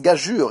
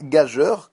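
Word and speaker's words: gageure: slide en tout cas le mot gajure se prononce gajure et non pas gageur qui est une erreur très très souvent commise donc j'espère que vous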